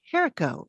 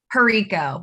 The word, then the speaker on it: Herico: n e space v and that was veronica jericho did i say pronounce your last name correct perico but that's okay because all my life all